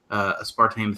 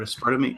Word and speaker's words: aspartame: human trials they put aspartame through, or aspartame. Aspartame. I always put the wrong emphasis on the wrong syllable. I do it every time.